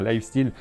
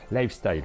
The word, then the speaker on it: Lifestyle: la gamme lifestyle board game c'est ça bien prononcer merci mais on avait tendance à dire life still life style faut qu'on retienne lifestyle c'est comme ça qu'il